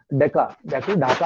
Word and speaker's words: ढाका: बंगाल में ढाका है, वो अंग्रेजों से प्रोनाउंस नहीं होता, ढा नहीं बोलते थे, वो डेका बोलते हैं, डेका।